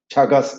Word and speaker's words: Chagas: a disease called as Chagas disease it is pronounced as Chagas disis and this protozoan parasite